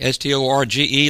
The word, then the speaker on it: storge: Then you have the storge, S-T-O-R-G-E, long E, pronounced storge.